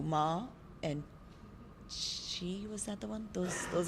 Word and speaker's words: qi: That there's 2, ma and chi, was that the one? Those are the only 2 syllables per se.